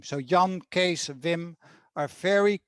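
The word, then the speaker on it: Jan: very common dutch name young g-a-n young is very common which is john in english a very common dutch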